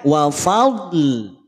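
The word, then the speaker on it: وفضل: Maka cara bacanya wafadl, wafadl, wafadl. Bisa? Wafadl. Hati-hati, karena sekali lagi huruf dod itu tidak ada bunyi pantulan, maka jangan sampai dipantulkan.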